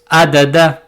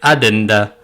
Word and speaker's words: addenda: Ce n'est pas Adada mais Adenda.